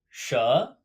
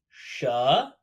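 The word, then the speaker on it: 舌: woman de that's a sha sha this character means tongue it's pronounced like the beginning of sure within kind of like in gum sha simply tongue and we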